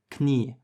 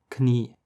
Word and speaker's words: Knie: The difference is that in English, the K is silent, but in German it's not. You can see this in words like Knoten, which is knot, and Knie, which is knee.